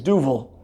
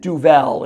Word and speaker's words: Duvel: it means devil and it's not it isn't Duvel it is Duval that's how you actually pronounce it um and more gar